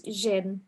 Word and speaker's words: Jin: pronouncing your name right, Shin? Sorry. Yeah, no, you pretty much got it right. It's Jin. And I always say it's like the S in casual, like Zsa Zsa Gabor.